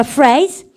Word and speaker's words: phrase: 그럼 발음을 갖다 붙여 phrase PH 발음 F 발음 하시면 됩니다.